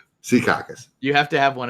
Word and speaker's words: Secaucus: yeah well yeah yeah Secaucus like see see caucus okay there it is